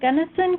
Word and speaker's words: Gunnison: well all right awesome okay who's next Gunn Gunnison County sorry if I pronounced that wrong no you pronounced it right